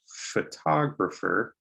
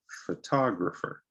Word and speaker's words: photographer: this word photo photo a two-syllable word you stress the first o photo but the profession photographer you stress the second o so repeat after me photographer photographer all right the